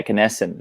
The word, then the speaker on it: Kenneston: Keniston? Yeah, Kenneston.